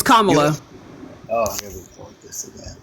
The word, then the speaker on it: Kamala: it then because I Kama is a word in the English language it is Kamala comma you have never heard her pronounce her name any any any other way any other way so